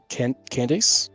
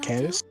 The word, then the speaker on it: Candace: for Daya and for Candice Candice yes not Candace I don't know how